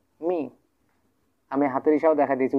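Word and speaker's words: 明: সো প্রথমটা first tone পেয়ে গেছিলাম, দুটো ফার্স্ট টোন, এখন আমরা পাইতেছি প্রথমত আমরা কী পাইতেছি, second tone, Ming Ming Ming.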